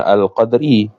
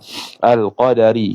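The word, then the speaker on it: القدر: mendustakan dengan ketentuan Allah bacanya bifathidali a kaunil qadari hal keadaan Qadar itu makruan dibacakan akan dia akan Qadar bifathid Dali dengan difathahkan huruf Dal Bukannya al-qadri kalau alqadri jadi Qadar Qadar alqadari Ketentuan wahua dan bermula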